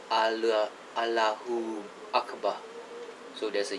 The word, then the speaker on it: Allahu Akbar: I'm not joking around, I think that's how they say it in the Middle East. In Malaysia, it's called Allah Akbar. There's no U in between the Allah and the Akbar.